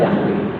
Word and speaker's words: Yahweh: Misalnya Yahweh, kita bacanya kan Yahweh. Tapi di dalam tulisannya kan dia tetragramaton, 4 huruf ya. YHWH ya. Sebenarnya tidak bisa dibaca ya.